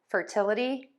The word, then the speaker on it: fertility: and we see that with this ity suffix, which we pronounce as a-dee, and we are going to stress the syllable right before that ending.